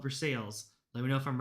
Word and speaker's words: Versailles: Versailles, right? Not Versailles. Even though it's spelled like Versailles. I think in Kentucky they call it Versales.